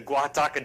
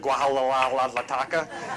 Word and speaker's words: Guajataca: We completed the Guajataca Dam, and yes, I said it right because the first week I was here, I think I called it Guajalalataca, and even the commanding general